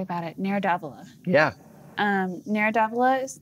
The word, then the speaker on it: Nero d'Avola: Nero d'Avola.